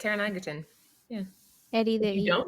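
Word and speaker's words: Taron Egerton: know pronounce his name is it teron eggerton yeah you said it perfect tara nigelton yeah eddie there you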